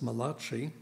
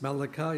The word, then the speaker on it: Malachi: 13:9 and one more often assume this is an Italian Prophet because they mispronounce his name is Malachi it's Malachi in Hebrew malim chapter 3: